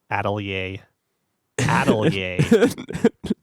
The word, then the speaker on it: Atelier: can locked their own by how well you pronounce their words Wow yeah a ttle yay we're gonna intro this episode with Neil pronouncing